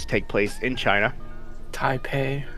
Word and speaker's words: Taipei: take place in China Taipei I pay there we go hi not typey typey whatever close enough